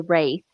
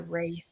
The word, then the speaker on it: Wraith: It's The Wraith, Abe. the Wraith. Yeah, Wraith. Okay. Great movie, even if I pronounced it wrong.